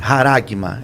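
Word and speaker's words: χάραγμα: João ele vai usar um termo grego, carigma, é assim que pronuncia, eu creio que é assim que pronuncia. Haragma, exato.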